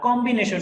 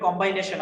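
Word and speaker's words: combination: তিনটা কাঠামোর পরে 4 নাম্বার কাঠামোটা হচ্ছে আর কম্বিনেশন, ইংরেজিতে আমরা বলতে পারি কম্বাইনেশন আমরা বলি সাধারণত, কিন্তু মূল উচ্চারণটা হচ্ছে কম্বিনেশন, আমরা বলি কম্বাইনেশন।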